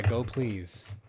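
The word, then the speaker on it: gopls: the most important one is called go pls go please it's called it's pronounced so really yeah go please this thing is where much of the magic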